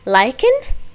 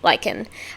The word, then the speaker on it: LYKN: And today we're going to be checking out LYKN, I believe is how you pronounce it. It's spelled LYKN, but it says it's supposed to be pronounced like LYKN. That was a lot of likes.